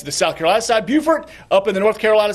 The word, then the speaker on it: Beaufort: You pronounced Beaufort correctly. Thank you. And I come from the other one that people mispronounce all the time. I come from Beaufort.